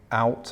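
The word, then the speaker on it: Oud: This is an estate by JJP Out, I think his name's pronounced, who was a Dutch architect and an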